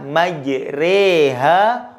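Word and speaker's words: مجراها: Maka bacanya majreha wa mursaha, sore kare ya.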